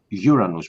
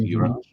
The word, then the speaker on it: Uranus: But not just the wind, the strength of the wind because Uran uh Uranus by the way that's how you should pronounce that planet Uranus.